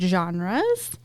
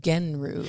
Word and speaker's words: genre: Um, which it looks like it should be pronounced gen like genru or genre. Gener. Yeah, but it's genre.